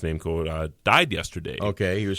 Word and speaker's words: Namco: Founder of Namco, and it might be no, I think it is pronounced Namco.